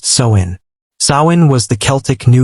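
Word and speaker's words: Samhain: And the most powerful night of the year was October 31st, the festival of Sin, pronounced Soin.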